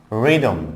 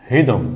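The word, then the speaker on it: rhythm: দেন হচ্ছে রিদম নট হৃদম, হিদম, হিদম, অনেকে বলে হৃদম, হৃদম নট হৃদম, রিদম, রিদম, এখানে এইচ থাকবে রিদম।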